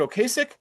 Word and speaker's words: Ocasek: However, on May 10th of 2016, Cars singer and songwriter Rick, is it Ocasek? That's how I've always pronounced it.